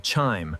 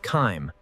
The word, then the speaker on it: chyme: It mixes the food with gastric juices to break it down into a liquid called chyme, pronounced kime.